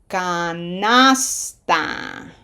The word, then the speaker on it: canasta: This S has to go with the previous syllable. So pronunciation emphasis applied. We come up with that and we say something beautifully sounding like canasta.